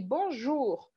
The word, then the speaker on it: bonjour: Bonjour alguém mandou aqui Bonjour né Qual que é a sílaba forte tem duas camas algum Ju é a última o Bruno não é bom Ju é bom Ju Bonjour